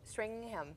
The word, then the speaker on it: Stringam: One of my very new dear friends, Autumn Stringham. Thank you so much, Stringham.